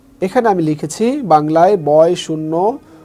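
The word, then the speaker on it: ش: অর্থাৎ এটা হচ্ছে সিন, এটাও যদি নোক্তা না ধরি তাহলে সিন হচ্ছে, নোক্তা দিলে শিন হবে।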